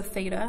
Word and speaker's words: theta: that's a Greek and it's the2 ta so theta that's how you pronounce that and to label the sides in